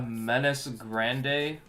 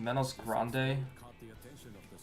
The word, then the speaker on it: Menos Grande: A menace grande. Isn't it pronounced Menos Grande? That was how I remember it when I watched the show.